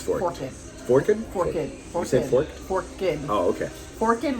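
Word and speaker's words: Forked River: Forkid River is how they pronounce it. It's spelled Forks, but it's we're when the locals says Forkid, that's what we say.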